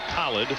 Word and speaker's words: Khaled: replace khaled elamine the name by the way has been pronounced a couple of different ways but he does prefer khalid and if